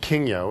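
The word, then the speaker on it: Kingyo: been waiting for and and king yo is how you say it it means goldfish and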